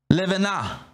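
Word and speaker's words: לבנה: The moon's called levana. That's how they say it, Levana, which is translated L-E-V-A-N-A, L-E-V-A-N-A, Levana. Not Lebanon, Levana, which again, this one is pretty basic.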